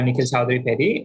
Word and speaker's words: Nikhil Chowdary Peddi: imgs as possible so yeah i am uh nikhil chaudhary petty or you can call me nick if that's